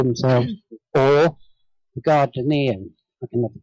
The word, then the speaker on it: Gardnerian: Alexanders, the Alexandrians, as they call themselves, or the Gardnerian. I can never pronounce that word. Gardnerian.